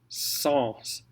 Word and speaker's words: sans: Sans. Sans. Sans. Now, if you're talking Saint-Saëns, it's going to be pronounced different. We call this the Saint-Saëns rule. Okay, but sans, S-A-N-S, is sans, sans cesse.